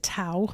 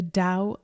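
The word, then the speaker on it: Tao: understandable and pronounce it tau but it's actually pronounced with a D sound the Dow of death so let's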